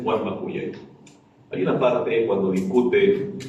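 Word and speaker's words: Warma kuyay: El mal llamado Morí Guarmacuyay, ¿no? En quechua las palabras oxítonas son poquísimas. El arí, que significa así, alalá y el cacao, que son interjecciones, pero bueno, la pronunciación es Guarmacuyay.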